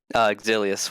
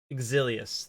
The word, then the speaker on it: Exilius: Exilius with an E in the front. Exilius.